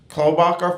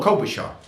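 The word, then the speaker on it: Klobuchar: female senator the woman senator from uh amy klobacher from uh minnesota did i mispronounce it i did what is it oh kobe shaw uh so you got choices in the democratic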